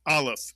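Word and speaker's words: אלף: This of course is the silent aleph, mitsuyan, makes no sound at all.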